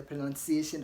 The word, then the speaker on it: pronunciation: pronunciation I'm sorry but the word is not pronounced as pronunciation okay there is no U after n so you don't say pronoun don't say pronoun because there's no after the end mostly we confuse ourselves with the pronunciation of the verb form which is pronouns and in pronounce there is an O after the N but pronunciation has got no o after n okay so don't say